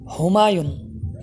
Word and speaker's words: হুমায়ুন: সঠিক উচ্চারণ হলো হুমায়ুন, হুমায়ুন অর্থাৎ হা দিয়ে, অর্থ হলো ভাগ্যবান।